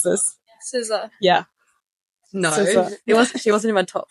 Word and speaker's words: SZA: I don't even know how to pronounce this. SZA. Yeah. No, SZA.